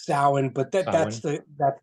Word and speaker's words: Samhain: like a little kid with like a little Sam Haynes shirt or something like that absolutely absolutely I